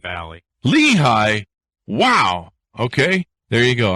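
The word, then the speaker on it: Lehigh: am well and it's leehi Valley leehigh wow okay there you go I I mean technically it's Lee High duh here in here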